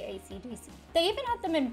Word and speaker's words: AC/DC: performances of their music ACDC is pronounced one letter at a time though the band under colloquially known as akadaka in Australia Academia that's don't forget